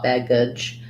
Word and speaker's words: baggage: in baggage it's an if the letter a says the if or even a schwa baggage i think it's more of an if vowel and then the letter g says the j sound so um if that